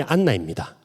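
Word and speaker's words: Ἄννα: 한나의 헬라어식 발음이 안나입니다. 한나와 똑같은 이름이라는 거죠.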